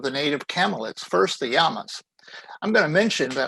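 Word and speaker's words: llama: native camellits first the yamas i'm going to mention that i am pronouncing this as it is in spanish the double l is pronounced like a y in english so it's yama not lama if you say lama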